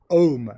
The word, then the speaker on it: Om: Vous savez, le fameux Om, donc qui se prononce A-U-M, donc Om, même si c'est écrit souvent O-M, mais il faut le prononcer plutôt A-U-M, Om.